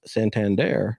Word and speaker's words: Santander: online you know that player from the Orioles Santander that's how you say it that you mentioned yep that guy is hitting 262.